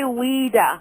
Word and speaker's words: Ouida: is it Ouida or Ouida? It's actually Ouida. Ouida. Like it was Ouida, but it's pronounced as if it's spelled W-E-E-D-A.